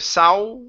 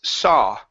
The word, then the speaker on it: saw: okay this word here instead of sow the word is saw ah saw some okay